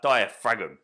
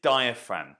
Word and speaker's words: diaphragm: It's spelt as if it should be like diaphragm, but it's diaphragm.